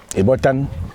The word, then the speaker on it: Ebotan: Ebotan. Ebotan. Voilà, je prononce m mal. Tu as très bien prononcé.